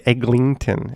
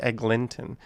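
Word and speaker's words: Eglinton: how to say it a lot of people say egglington it's actually egg linton just say it the way it's spelled and you'll be fine there's no magic g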